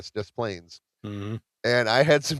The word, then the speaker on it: Des Plaines: I don't know because the S is silent. Oh, yeah. So when I sold cars, there's a town in Illinois called Des Plaines. It's DES Plains, Des Plaines.